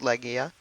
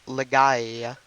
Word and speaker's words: Legaia: care how it's pronounced I pronounce it Leia even though it looks like leay uh couple things I